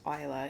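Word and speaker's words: Islay: that's what it it looks like is it's pronounced Ila it's an island off the West coast of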